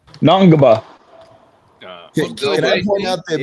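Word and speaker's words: Ngongba: Patrick Nagba. I'm sure you jacked that up. No, it's N. spelled N G N G O N GBA B A Naba.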